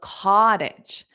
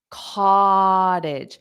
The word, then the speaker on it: cottage: talk about this because although I have the C TT as the stress syllable it's always the vowel it's always the vowel okay so it's really that a sound c c that a that's what you hear the most cage cotage and then